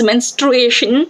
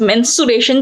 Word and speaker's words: menstruation: Students normally pronounce it as mensuration, जो कि maths का part है. Mensuration, it is a part of mathematics, but it is menstruation or menstrual cycle.